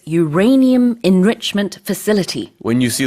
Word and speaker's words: Uranium: 네, 우라늄 농축 시설을 영어로는 Uranium Enrichment Facility라고 합니다. 발음도 주의해 주시면 좋은데요. 우라늄을 영어식으로는 Uranium이라고 합니다.